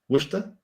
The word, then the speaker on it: Worcester: And then he did his master's at the University of Worcester or Worcester? Worcester. Worcester? It's Worcester. WORCEST.